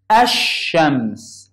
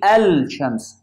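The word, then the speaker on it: الشمس: Like here, shams, ash-shams. I didn't pronounce that lam. I pronounced this and sheen. Ash-shams. I can't say al-shams. It's wrong.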